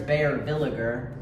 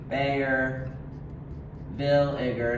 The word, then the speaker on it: Baeyer-Villiger: a little interesting like people say Bayer Villiger or Well, that would be correct. Bayer villager. It's Bayer Villiger. Bayer villager, not villager.